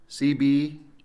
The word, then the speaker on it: CBW: CBDUB, right? Yep. CBDub Media. All right, I'll Yep. make sure I pronounce it right Oh, so yeah, you everybody got it right.